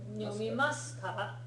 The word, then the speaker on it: 読みますか: 読みますか？ So the pronunciation on this, even though it's spelled masu, Yes. the u doesn't get fully pronounced.